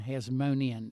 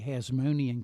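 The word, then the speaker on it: Hasmonean: led to the establish establishment of the independent Hasmonian kingdom.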